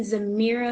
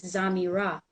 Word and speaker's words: Zamira: Uh, but I don't really say anything because I kind of like saying Zamira because it reminds me of a mirror, but technically it's ZamiRa, right? But so I'm ZamiRa Lakaya, I'm ZamiRa Seki Ma'a Asari, I'm ZamiRa Lazuli, I'm ZamiRa Aya.